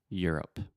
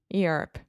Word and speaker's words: Europe: Europe Europe yeah so just think about you're up you're up Europe Europe yeah a lot of